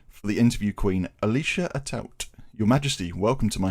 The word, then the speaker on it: Atout: Now, ever since I was a kid, I've always said it as Atout. Apparently, there's some like French background to it somewhere deep down in my background, but Okay. I don't do the fancy Atout pronunciation. I just do Atout.